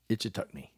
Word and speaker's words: Ichetucknee: Took us to a place called the Itchitucknee Springs. I hope I'm saying Itchitucknee Springs. Good grief. Let me try this one more time. Itchitucknee. I did it. I'm going to spell it.